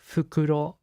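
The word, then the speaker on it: フクロウ: it's an owl so in Japanese right owl is pronounced fukuro uh and uh the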